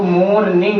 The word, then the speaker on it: morning: जब भी आर से पहले कोई भी वोवेल आता है तो आर का प्रोनाउंसिएशन नहीं होता है, आर हमेशा साइलेंट रहता है। लेकिन कुछ एक्सेप्शंस हैं, जैसे फॉरेस्ट, फॉरेस्ट में आर हम लोग प्रोनाउंस करते हैं क्योंकि ये एक्सेप्शंस है।